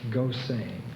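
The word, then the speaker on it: Gosseyn: s s e y n that can be pronounced Goan Gilbert Goan and as a protagonist gain is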